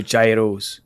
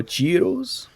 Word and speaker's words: gyros: The Mad Roman also with the gyros. Oh, girros. Giros, I believe. Yo, even they say they they don't even pronounce the G, I believe.